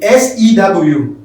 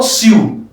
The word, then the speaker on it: sew: soul we are so look at the sew i want to go and show my clothes not sue s ew so just like so the same pronunciation s4